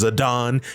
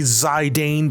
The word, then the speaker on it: Zidane: whole game and yeah it's pronounced zadon you hear me zidane Believers I'm right and I know know I'm right because the cyia tells me I'm right zadon I owe you